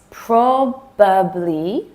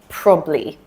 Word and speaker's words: probably: Okay, number 8, probably, probably. This one gets shortened all the time.